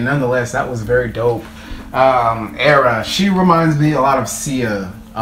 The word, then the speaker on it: Era: I know her first name is pronounced Era, but is it Istrefi Bonbon official video?